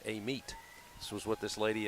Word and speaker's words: Amite: you're in Mississippi, it's Amite. But if you're in Louisiana, they actually pronounce it Amite.